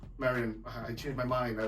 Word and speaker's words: Marian: I want to name again it's Marian Marian the European way but you know I'm getting used to the with the American way of saying it but it my name